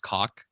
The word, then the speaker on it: Gaulk: It's captain, and it's spelled Gaulk, but it's pronounced cock.